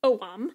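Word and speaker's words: Ogham: but apparently pronounced Oh mom okay and it is an alphabet that is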